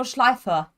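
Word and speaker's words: Nordschleife: to that matt and part one of your training is pronouncing it properly oh no nordslide right i heard so many people saying no no schleifer okay that was better yeah yeah okay great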